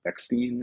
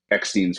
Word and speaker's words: Eckstein: I do wish Ashley, I think Eckstein is how you say her last name, the voice of Mm.